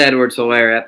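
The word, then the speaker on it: Edwards-Helaire: catching back too but pronounce Edwards hair Clyde Edwards hair that's how you say it write it down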